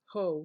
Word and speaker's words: Haux: going to use is Mac ho which is spelled haux this is a satin